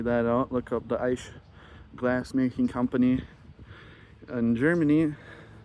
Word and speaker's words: Eisch: And then for those wondering on whenever I do post this video how to pronounce the last name that I got, it's Eisch, E-I-S-C-H, and they're the family of Eisches from Germany.